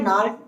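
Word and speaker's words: gnarled: Of twisted bones रेसेक्टिंग A fathers नाल disease, यहाँ पर जो जी है नाल, उनको हम गनाल नहीं बोलेंगे, नाल यानी कि जी साइलेंट है यहाँ पर।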